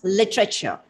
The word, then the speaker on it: literature: I guess the word literature, it should be pronounced as literature.